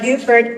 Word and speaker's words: Beaufort: French word for beautiful the inhabitants of North Carolina and most people who use this name chose the modern French pronunciation for the first little boat while the South Carolinians Town residents retained the medieval French way of saying be so we are Buford and it's older than